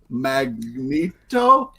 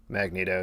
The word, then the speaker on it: Magneto: everything in my life you're like magnito magna tattoo magnitado yes the marvel legends modern x-men magneto so he's a good